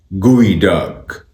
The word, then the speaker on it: geoduck: इस वर्ड की सही प्रोनाउंसिएशन है gooey duck, gooey duck, gooey duck, gooey duck, gooey duck, gooey duck, gooey duck, gooey duck, gooey duck.